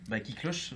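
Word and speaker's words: Kiklosoche: Oui, Qui Cloche, le titre vient de là.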